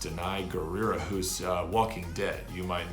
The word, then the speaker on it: Danai Gurira: as well as I think her name is pronounced Danai gurira who's Walking Dead you might know her from